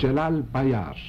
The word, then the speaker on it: Celal Bayar: Celal Bayar.